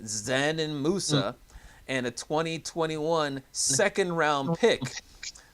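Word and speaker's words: Džanan Musa: And the Pistons even made a trade yesterday, trading Bruce Brown to the Nets for 21-year-old, I think it's pronounced, Zanin Musa, and a 2021 second-round pick.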